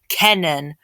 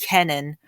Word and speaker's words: Kenan: storm or winter storm canon which is k-e-n-a-n i'm not sure if i'm pronouncing it right but i believe it's called canon so it is having